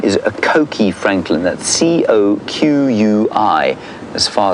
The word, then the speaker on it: Coqui: Coqui Franklin, and it's an onomatopoeic name.